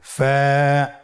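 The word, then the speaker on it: ف: ফা কফ কাফ লাম মিম নুন ওয়া হামজাহ ইয়া ফা হরফটি আপনারা স্ক্রিনে দেখতে পাচ্ছেন। ফা হরফটি উচ্চারণের ক্ষেত্রে বারিক হবে এবং এক আলিফ টেনে পড়তে হবে।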